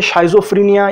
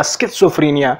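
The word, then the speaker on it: schizophrenia: और इसी साइकोटिक्स को डिस्कस करते हुए हमारे पास एक साइकोटिक सिंड्रोम है जिसको बोलते हैं शाइज़ोफ्रेनिया या स्किज़ोफ्रेनिया। आप इसको दोनों तरीकों से प्रोनाउंस कर सकते हैं।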